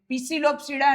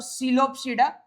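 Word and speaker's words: Psilopsida: याद रखना इट इज नॉट, ये क्या बोलते हैं, पिसिलोप्सीडा नहीं है, या तो सिलोप्सीडा या है लिपोप्सीडा। ये PSI साइलेंट रख लो, लिपोप्सीडा, और यू कैन से इज सिलोप्सीडा।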